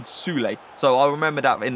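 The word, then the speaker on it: Süle: I think that's actually how you pronounce it. A lot of people was questioning how I pronounce Shul. But it's apparently Sule.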